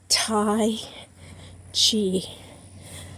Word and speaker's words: Tai Chi: I'm gonna tell you I know I've been saying it wrong but it is Thai Chi how I'm proud of